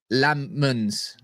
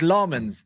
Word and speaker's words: Lammens: How to pronounce Lammens. All right. Here we go. Lammens. Lammens. Lammens. It's Lammens.